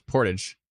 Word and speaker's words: Portage: always say Portage but yeah it's Portage someone said it's supposed to be like porridge just think of porridge so now I say Portage Portage la Prairie I